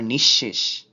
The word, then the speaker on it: নিঃশেষ: আবার নিঃশেষ, এখানেও তালব্য শ এর দ্বিত্ব উচ্চারণ হচ্ছে, এর আগে যেহেতু কার চিহ্ন আছে এই কারণে ওকার উচ্চারিত হচ্ছে না।